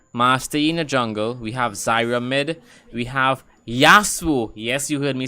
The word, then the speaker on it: Yasuo: We have Yasuo.